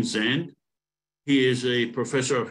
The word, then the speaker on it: Sand: 28th uh Professor Zend I was told that that's how we pronounce his name sand he is a professor